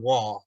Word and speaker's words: Waugh: trenton doug uh ethan wall apparently like vince vaughn but without the end yeah with a w so i complete surprise